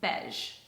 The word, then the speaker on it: Bege: pronounce it properly, but the way you pronounce it is Bege. So basically you pronounce it like, it's similar to beige. Instead of bay, you just say be.